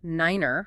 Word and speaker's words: nine: And specific pronunciations for numbers like tree for three, five for five, niner for nine.